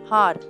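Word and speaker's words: hour: உதாரணத்திற்கு அண்ட் ஹார், இதில் H silent சொல்லாகும். ஹெச்சை தவிர்த்து உச்சரித்தால் ஓ போன்ற சத்தத்தை எழுப்புவதால் அண்ட் என்ற வார்த்தையை உபயோகிக்கின்றோம். சில வார்த்தைகள் ஓவலை கொண்டு ஆரம்பிக்கும், இருந்தாலும் நாம் அ என்ற வார்த்தையை சேர்த்து கொள்ள வேண்டும்.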